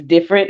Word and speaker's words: Difernt: into it about myself yes my name is different it's spelled d-i-f-e-r-n-t I'm from Houston Texas holding it